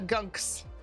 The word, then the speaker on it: Gunks: fever okay thank you see I knew I said it wrong they're called the gunks okay my old dorm